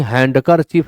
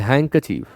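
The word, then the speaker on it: handkerchief: Handsome handsome ऐसे ही हैंडकर चीफ ना पढ़ें इट इज़ हैंक चीफ हैं चीफ डी is silent there अब यहां आप गौर करिए कि टॉल से टॉलर हो गया ई आर लग गया।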